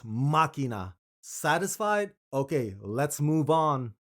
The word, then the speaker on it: Machina: I previously said Machina when I should have said Machina. I get it. I put the wrong emphasis on the wrong syllable.